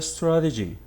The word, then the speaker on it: strategy: The same happens with the strategy. Strategy. 3 syllables. Stra, t, g. Strategy. Okay, now the first one receives the stress.